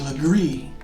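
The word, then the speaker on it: Legare: some of the street names whoo h-u-g-e-r is pronounced hugee l-e-g-a-r-e is Legree b-a-r-r-e is very you might also need to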